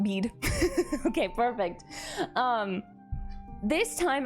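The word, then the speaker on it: Bede: monk and historian called I believe you pronounce it bead b who wrote of Gilly which is essentially Ule.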